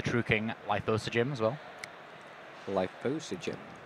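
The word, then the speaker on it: Lithosagym: Lithosogym. That's how you say it. Lithosogym. Lithosogym. Lithosogym. I'm pretty sure you could say Lithosogym as well. Lithosogym. That's easier for me.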